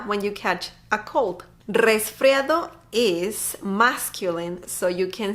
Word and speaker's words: resfriado: I know, you gotta roll your R on this one.